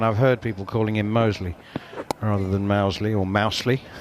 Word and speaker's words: Moseley: The Birmingham suburb, Moseley. Moseley, right. Just checking. But that's only because I'm a... It is Moseley, but I would just...